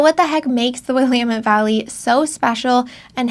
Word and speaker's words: Willamette: You pronounce it Willamette, not Willamette. Willamette, that's another popular one. It is Willamette. You're going to find that the largest cities in town in the Willamette Valley are right alongside the river, which means